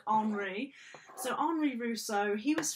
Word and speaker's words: Henri: So you could say Henry Rousseau, but in French it's like Henri.